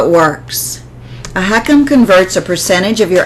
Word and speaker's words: HECM: you and I talk what is a home equity conversion mortgage pronounced heckum it's also known as